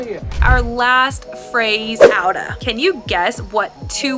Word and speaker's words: out of: let's practice pronouncing it it sounds like out uh the same uh sound again outa let's say the whole